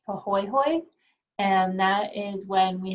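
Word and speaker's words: pāhoehoe: need to know so these are both hawaiian terms so the first one is pronounced pahoyhoy and that is when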